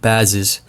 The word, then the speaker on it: Bazes: cut the bell peppers but Andrew it's actually pronounced buzzes buzzes buzzes buzzes buzzes blades assured me it's